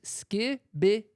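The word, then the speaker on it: skibidi: It is pronounced skibbity.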